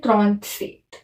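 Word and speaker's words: trente-sept: 37 को बोलते हैं त्रॉन्त सेट। इसको त्रॉन्त, इसको सेट, साथ में मिला के क्या हुआ? त्रॉन्त सेट, है ना।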